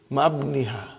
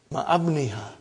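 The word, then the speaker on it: مع ابنها: But remember, Ibni has got hamzatu wasal. We cannot pronounce it. How will you say? Ma'abniha. Ma'abniha.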